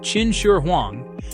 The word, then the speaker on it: Qin Shi Huang: The tomb of China's first emperor, Qin Shi Huang, pronounced Chin Shur Huang, sits under a hill of earth and time.